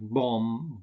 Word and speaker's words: bomb: The first is that you don't pronounce the B in words like bomb, bomber, climb, and thumb.